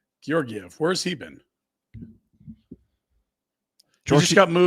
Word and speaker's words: Georgiev: Spelled with the S that fooled you. What is his name? Georgiev.